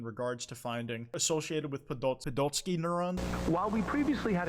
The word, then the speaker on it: Podolsky: Oh, I did pronounce it right. Podolsky.